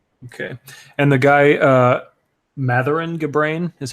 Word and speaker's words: Mathuran Gabrain: a ma GTL okay and the guy uh Mathur ngah brain is how you say his name yeah Mathur